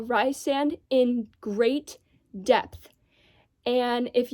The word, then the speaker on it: Rhysand: I know in the back of the book it says the pronunciation is Rhysand, and I'm very sorry if there's anyone who happens to watch his video whose name is Rhysand. I will use the pronunciation Rhysand and Rhys for the character whose name is spelled Rhysand or RHYS.